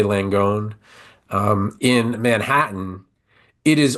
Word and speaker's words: Langone: go to NYU and I don't know how to pronounce it l n g o n e it's I'm going to say langone um in Manhattan it